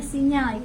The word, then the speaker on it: SIGNAL: Kalau kita bacanya Sinyal ya, kalau ditulisnya Signal atau Samsat Digital Nasional, ini gratis ya.